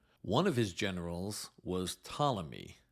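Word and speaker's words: Ptolemy: of his generals was tmy by the way that's spelled with a silent p p t o l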